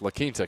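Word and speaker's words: Laquinta: It's going to be Lita, isn't it? The the correct pronunciation is Lita, California.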